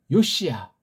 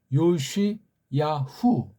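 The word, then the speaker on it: יאשיהו: 이 마지막 개혁제라고 하니 일본 소리로 요시야, 원문 소리로 비평주의자들이 찍어놓은 이름 모음 발음으로 요시야후, 요시야후.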